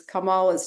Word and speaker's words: Kamala: GNC too I thought that was cute is kamala's nieces were showing how to pronounce her name Kamala you know so um